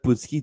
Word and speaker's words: Putski: C'est Scott comme ça qu'on le Putski. prononce? Putski. Putski. Ouais, c'est comme son père Ivan Putski.